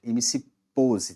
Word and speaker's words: MC Poze: MC POS, tá? É assim que se pronuncia.